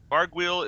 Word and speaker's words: Vargouille: And we have a very special guest moderator from Turbine, one of the devs, Vargouille. Howdy, howdy. Is that the right pronunciation for that? Vargouille is in fact the correct pronunciation, which I